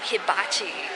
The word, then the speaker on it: hibachi: Now we're going to head over to the food court and we're going to get some hibachi, or however you say it.